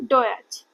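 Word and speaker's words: Deutsch: डी यू डी ई यू टी एस सी एच। तो अभी हमने क्या बात किया था? टी एस सी एच को च बोलते हैं। ठीक है? तो इसको क्या बोलेंगे हम? डच। डोच। डच।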